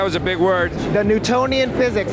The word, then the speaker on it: Newtonian: The Newtonian physics. Newtonian. Spell that word. N-E-W-T-O-N-I-A-N. Oh, like Newton.